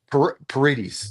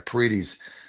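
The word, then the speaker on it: Paredes: I say his name Petes Petes right parites I think think there's a the long e e there parites but uh this guy's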